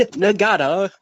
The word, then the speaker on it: Nagata: He said each one is its own separate syllable. Na-ga-ta. That's how he introduced him, Yuji Nagata.